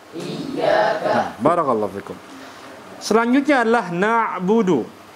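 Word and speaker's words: نعبد: selanjutnya adalah na'budu nabudu huruf Ain ditinjau dengan ketika dia disukunkan maka huruf Ain dia sifatnya apa syiddah rakah atau tawassut huruf Ain tawassut bukan syiddah Yati kalau syiddah kan dia seperti ini nabudu nabudu nabudu Ini salah karena huruf syiddah itu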